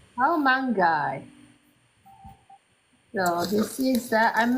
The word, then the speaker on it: Kaomangai: of the dish is called the C mangi how mangi how mangi so this is that I'm measuring for the